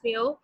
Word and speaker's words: Millau: मेलो is pronounce मेयो.